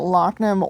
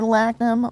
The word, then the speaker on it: Lachnum: And you can pronounce that Lachnum or Lachnum. Both are considered correct.